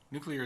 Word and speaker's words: nuclear: freaks me out Yeller noon euler you're clear nuclear is the correct one I know but ever